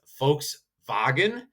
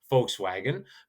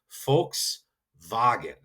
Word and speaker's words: Volkswagen: And so again, it's folks vagen in German. We would say folkswagen, but that is what the actual pronunciations of the V and the W are. So you can always kind of go and say folks vagen. That V is a hard f.